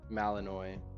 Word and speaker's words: Malinois: picture of one oh it's like Illinois Malinois Mountain law oh it's